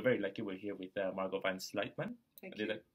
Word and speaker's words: Margot Van Sluytman: We're very lucky we're here with Margot Van Sluytman. Thank you. Did I pronounce it properly?